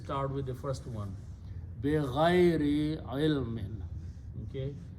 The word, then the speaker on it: بِغَيْرِ: بِغَيْرِ عِلْمٍ. Okay? This word بِغَيْر, it actually we pronounce it بَغَيْر. That means without. But Arabic word is بِغَيْر.